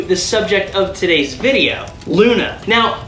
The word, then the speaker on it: Loona: subject of today's video Luna now Luna is spelled l-o-o-n-a but it's actually a